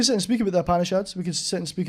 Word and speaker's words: Upanishads: The Upandish is a book you've dabbled in before. Is that correct? The Upanishads.